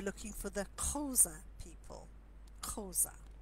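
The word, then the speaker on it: Xhosa: for the chosen people Koza which is spelt XH Oh si but let our wine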